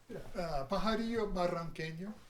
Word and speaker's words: Pajarillo Barranqueño: In the true pronunciation of the Espanol. Doctor. Yeah. Pajarillo Barranqueño. Which means? Little bird. Of the Barrancas. Of the Barrancas. Ooh, you Yeah. got that double R there, ladies and gentlemen.